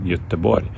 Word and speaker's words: Göteborg: Now I'm joining you for this full-time analysis from another Swedish city, actually one of my favorite places, Gothenburg, or with the beautiful Swedish pronunciation Göteborg, because this is the place of my next match vlog tomorrow of IFK Göteborg.